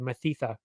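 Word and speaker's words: Mathetha: Good old Mike Mathitha, which is a weird name to say. Mathitha. Sounds wrong, but that's how you say it.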